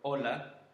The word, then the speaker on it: hola: Most of the time it's mute, which means we actually don't pronounce it. So for example, if we have words like hablar or hola, then we just, as you just noticed, I just go straight away and say I don't say like hablar or hola, no. We just go straight and we read the vowel.